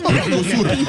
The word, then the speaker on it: Mercosur: permet de montrer votre prononciation éblouissante du Mercosur. Mercosur. C'est vrai. Mercosur en portugais.